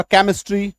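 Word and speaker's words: chemistry: क भी होता है, यही CH का उच्चारण क भी होता है, जैसे कोलेस्ट्रॉल, ठीक है, कोलेस्ट्रॉल, फिर आपका केमिस्ट्री, ठीक है, CH शुरू में है लेकिन क हो रहा है।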